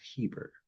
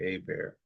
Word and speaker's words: Eber: And Shalak lived 30 years and begat Eber, which I believe is pronounced Heber. Heber. Yeah, Eber or Aber. It's actually Aber.